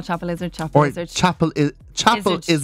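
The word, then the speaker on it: Chapelizod: I think it's more of a Chapel Lizard. Yeah, Chapel Lizard. You might even turn the D into a T, Chapel Lizard, if you want to.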